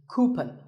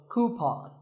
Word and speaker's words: coupon: of these a coupon a common incorrect pronunciation is coupon but the second syllable should be Pawn so coupon here's word number 16.